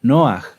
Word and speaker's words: Noaj: ¿Quién se acuerda cómo era la pronunciación correcta de Noaj? ¿Noaj? No, era Noaj, ¿verdad?